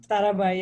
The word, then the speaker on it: Sarabhai: Did I pronounce it correctly? Sarabhai, yeah.